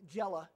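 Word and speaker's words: Gela: so here he is landing in uh the Jella is the way they pronounce it over there in southern Sicily and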